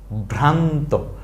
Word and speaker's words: ভ্রান্ত: নয় বা ন সংযুক্ত তবে বলেন তাইলে বর ফল আকার ভ্রা নয় ভ্রান্ত ভ্রান্ত আমরা বলি না সাধারণত